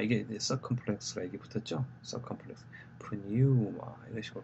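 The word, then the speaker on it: πνεῦμα: circumflex, pneuma 이런 식으로 발음하시면 됩니다.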